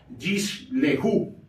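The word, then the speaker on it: יִשְׁלְחוּ: otra en ese caso la primera no se pronuncia no se lee la segunda sí por lo que esta palabra se leería jish leju y se traduce como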